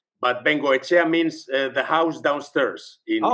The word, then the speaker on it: Bengoechea: Beno. Am I correct in saying that? That's perfect. Perfect pronunciation.